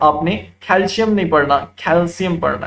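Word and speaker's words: calcium: कमी हो रही है, लेकिन दरअसल इसकी प्रोनाउंसिएशन, इसका तलफ्फुज जो अहले जुबान करते हैं वो कैल्शियम नहीं है, बल्कि वो कैल्शियम, कैल्शियम, शीन से नहीं है, सीन से, कैल्शियम।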